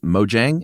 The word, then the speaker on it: Mojang: It's Mojang, M-O-J-A-N-G, almost a G, with a couple of coworkers named, and here's where I don't know whether to say Jacob or Jakob.